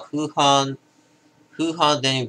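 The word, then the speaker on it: Hoegaarden: 現地での発音はフーハーデンビットに近い。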